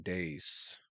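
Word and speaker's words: Deace: And he also helped me with the pronunciation, saying Dace. Steve Dace.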